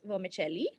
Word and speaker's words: vermicelli: say vermicelli but like it's actually an Italian word which is pronounced vermicelli okay okay so um